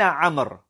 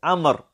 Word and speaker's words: عمر: أين عمر? This is how we pronounce that name. It is عمر. عمر. Right? We have the wow to show us that it is not عمر.